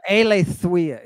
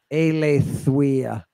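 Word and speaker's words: Eileithyia: Or Eleithuia, excuse me. You're thinking probably the goddess of childbirth, which is Eleithuia. Eleithuia.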